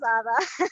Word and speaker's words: Ada: Am I saying it right, Ada? yeah, you actually did it very good. Yes, it is Ada.